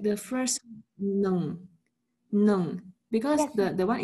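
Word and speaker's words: หนึ่ง: There will have H sound in front of N. So how will we pronounce the H sound? Actually nung. You don't pronounce ho hip, like it is just only in the writing system. But when you pronounce no no only, the N sound only.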